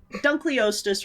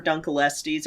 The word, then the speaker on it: Dunkleosteus: plesiosaurus and like I don't know if I say it right, but like Dunkleosteus. Dunkleosteus or Dunkelestes. I've heard it pronounced both ways, but yeah, that one's cool.